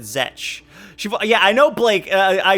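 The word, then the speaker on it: Zech: If you know the show Ruby, then you may know Aaron Zek. Wait, I think she pronounces it Zetch.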